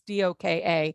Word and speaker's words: Doka: term coined by kenneth i think you pronounce it doka it's doka who is a professor